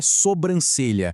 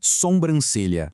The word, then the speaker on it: sobrancelha: O correto é sobrancelha, sem nenhum som nasal no início. O incorreto é sombrancelha.